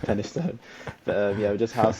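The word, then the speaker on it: Penistone: It looks like penis stone, but it's pronounced Pennystone.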